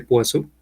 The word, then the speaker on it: Poisson: Porque realmente el personaje se llama, digamos, bueno, realmente se pronuncia Poisson. Son corchetes de Poisson que vienen directamente de la mecánica clásica, la mecánica teórica clásica.